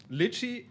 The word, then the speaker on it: Lychee: Lychee, this is how you pronounce it.